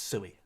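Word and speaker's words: Siu: Nah, it's sui. It's pronounced sui. When you see Ronaldo do his sui, like you can hear him say sui.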